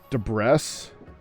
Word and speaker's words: debris: hi Lily so I you're pronouncing incorrectly ancient debris rhymes with nebris ancient de deess ancient deess NE I'm